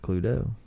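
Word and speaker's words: Cluedo: invented the game in 1944 it's called pluto pronounced pluto meaning clue and the latin term ludo meaning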